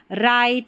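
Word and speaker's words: write: डब्ल्यू R pattern में W silent है। और वैसे याद रखिए जब भी आपको डब्ल्यू आर किसी भी इंग्लिश की स्पेलिंग में शुरुआत में लिखा हुआ नजर आ जाए तो आपको पढ़ देना है र। क्यों पढ़ते हैं? क्योंकि डब्ल्यू साइलेंट रहता है। इसलिए हम र पढ़ते हैं।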